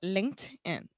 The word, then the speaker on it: LinkedIn: Linked in.